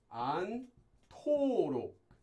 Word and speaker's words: 않도록: Now I should note that due to sound change rules, this becomes pronounced as 안토록. 안토록, because we have a hiat before a base consonant.